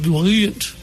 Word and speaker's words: buoyant: You look buoyant. I do. I look buoyant. Yes, that's how you pronounce it.